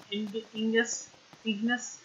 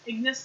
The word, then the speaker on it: Ignis: What are you standing there for, Prompto and Ingus? Ignis? I always pronounce his name wrong.